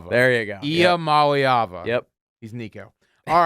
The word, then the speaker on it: Iamaleava: Nico Imo Aliava? Iamaleava. There you go. Iamaleava.